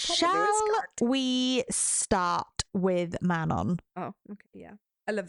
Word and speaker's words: Manon: Shall we start with Manon? Absolutely. There'll be no Manon here. No Manons here. No, sorry, no. How do the Americans say it? Manon? Manon? Manon. Manon. Like Manon. You're a sheep. Manon.